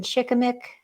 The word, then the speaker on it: shikimic: For flu or other illnesses, pine has wonderful properties, including how do you pronounce that, Jason? Shikimic.